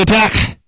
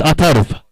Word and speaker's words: Atharv: Atta back into the attack. In fact, he's bowling his first over, Atta. Atharv, in fact, my apologies for getting his name wrong. It's Atharv.